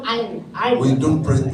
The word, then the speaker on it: iron: Ya kalau di sana ya biasanya kita kan ngomong iron. We don't pronounce that R.